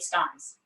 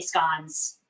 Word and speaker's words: scones: have i also made scones today my family is from durham which is the county north of yorkshire and we say scones scones and scones are correct pronunciations you can say it either way the eurola grantham on